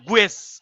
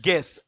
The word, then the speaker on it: guess: কেউ যদি স্যার গুয়েস অ্যাট, আমি বলবো যদি আপনি বানান ভুল থাকে তাহলে আপনি গুয়েসই পড়েন, কিন্তু এটা গুয়েস কোনো উচ্চারণ না, এটা হচ্ছে গেস।